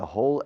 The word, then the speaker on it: whole: Todos los 8 minutos, the whole 8 minutes reading. Now, whole, in the sense of todo o entero, is pronounced exactly the same as agujero, a hole.